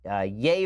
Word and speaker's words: Ye: released a track called yay versus the people I got it right this time it's not ye it's yay versus the people even though it's spelled ye alright and his his